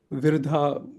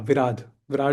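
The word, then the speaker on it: Viradha: which was there was uh Virha yeah actually I need to yeah Vir Vad is the proper pronunciation.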